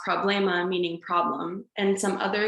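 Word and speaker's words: проблема: for example the word problema and russian is pronounced problema meaning problem and some other example of words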